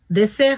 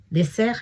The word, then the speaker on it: dessert: நான் ஏற்கனவே உங்களுக்கு சொல்லியிருக்கிறேன், 1 எஸ் வந்தால் அது அழுத்தமாகவும், 2 எஸ் வந்தால் அது மென்மையாகவும் உச்சரிக்கப்படும். ஆகவே டெசேர் என்று சொன்னால் பாலைவனம், டெசேர் என்று சொன்னால் சாப்பாட்டுக்கு பின் உண்ணும் இனிப்பு வகை என்று சொல்லலாம்.